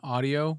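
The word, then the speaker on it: OneOdio: I think she's got them at her mom's, but they're One Audio, but audio is spelt with an O. It's like ODIO. Audio.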